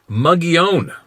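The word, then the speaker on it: Mogollon: real Encounter With Sasquatch mogon monster pronounced mugon all right before this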